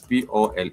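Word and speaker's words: pole: This is p o l e like you spell a but you do say pol means slow.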